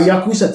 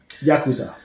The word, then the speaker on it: Yakuza: the new Yakuza game Yakuza I keep saying Yakuza yeah accent the second syllable uh we get After